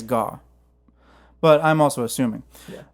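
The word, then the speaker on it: Gaugh: his name bud g-a-u-g-h i don't know how to pronounce it i think it's gah but i'm also assuming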